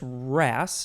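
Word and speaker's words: wrasse: a wrestler that's my question uh it's just ras w-r-a-s-s-e uh but yeah no i i don't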